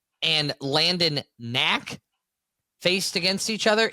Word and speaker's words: Knack: Could be an older message, but when Brandon Pfaadt and Landon Knack faced against each other. It's two guys whose names begin with a silent letter.